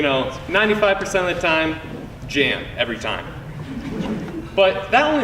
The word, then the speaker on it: Jan: So one time, they called me because I think they thought I spelled my own name wrong.